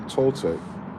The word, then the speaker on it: Toltec: And then um once I understood there's a Toltech rhymes with old mech and they were giants